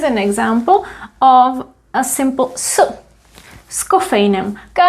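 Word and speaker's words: s kofeinem: example of a simple scoffainum we read this little preposition together with the following word so we pronounce it as if it was one word cava scoffeinam it sounds like there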